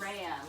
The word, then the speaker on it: Araya: Araya, like a ray of sunshine.